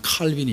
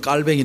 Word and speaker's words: 칼뱅: 중에 하나가 누가 있냐면 칼빈이 있습니다 칼빈 요즘은 발음을 칼뱅이 부르는데 깔뱅의 신학 서적을 보면